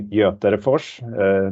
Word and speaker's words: Göterefors: My name is Conny Göterefors. That's how you pronounce my family name.